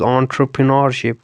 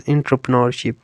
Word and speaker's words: entrepreneurship: Entrepreneurship, this is pronounced as entrepreneurship, right? And some may say this word as entrepreneurship, but the correct pronunciation is entrepreneurship. More professionally you can say entrepreneurship, right?